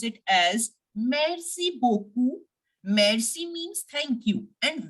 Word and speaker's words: beaucoup: sound of this T and we will simply pronounce it as merci beaucoup Mercy means thank you and when you say